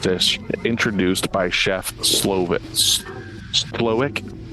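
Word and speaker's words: Slowik: introduced by Chef SLO slowick I always want to pronounce that W like a V like it's Slavic uh slovic as he would do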